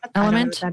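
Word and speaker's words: LMNT: have you done that element okay supposed to be really good it's l m NT is I believe how it's spelled but element is how they say it anyway but I was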